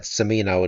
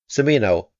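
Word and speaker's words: Cimino: understand what's going on simino is B on hubub I must say I hope it's pronounced samino the settlers are bizarrely homogeneous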